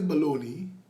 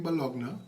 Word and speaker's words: bologna: And I know that Bologna is baloney, but when I'm with my mom, I don't mind calling it Bologna to make her happy.